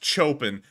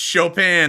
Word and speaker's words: Chopin: you said Chopin it's Chopin uh y'all were wrong it's Chopin I was right and so that are you sure about that yeah this is the American pronunciation Chopin like on the pronunciation